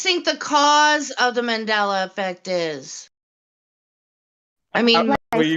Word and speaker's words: Mandela: i'm saying it right the medela or the mandela which is it it's it's mandela okay the mandela effect